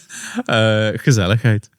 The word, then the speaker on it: gezelligheid: all the details, but gezelligheid or conviviality, if I say it correctly. Gezelligheid. Yeah. Gezelligheid, so we go the Dutch way.